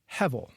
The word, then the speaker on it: Hebel: It's an image for the Hebrew word Hevel. Hevel, spelled Hebel, but with the B pronounced as a V.